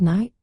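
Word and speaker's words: knight: Take the word night for instance. It was once pronounced with a clear K sound. But sound changes led to the silent K we use today, reflecting its historical pronunciation and origin.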